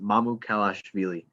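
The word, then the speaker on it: Mamukelashvili: i learned it was i broke it down to three like phrases mamu kalashvili that's how you say it really yes mama called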